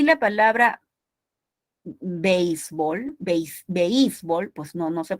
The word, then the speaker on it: béisbol: Solamente la podemos pronunciar como diptongo, béisbol.